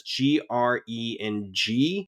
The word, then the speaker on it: krengjai: the subtitles on and they pronounce it as GRENGGIE. And if you look it up online, it's usually spelled krengjai, KRENGJAI.